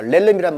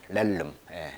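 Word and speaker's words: realm: 자, 렐름이란 말은 영역입니다. 발음이 렐름, 렐름.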